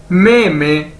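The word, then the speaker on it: 妹妹: जाए, दो बार बोला जाए, तो क्या बनेगा, मे मे मे मे, और इसका मतलब है यंगर सिस्टर, छोटी बहन। ठीक है, मे मे मे मे, छोटी बहन, यंगर सिस्टर।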